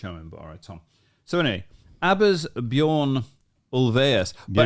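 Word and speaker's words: Thom: and thousands of creators Tom is it Tom it's t h Tom so anyway ABS bjoras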